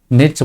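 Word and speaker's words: knit: नेट, नेट बोलेंगे इसको, के साइलेंट है, नेट बोलेंगे।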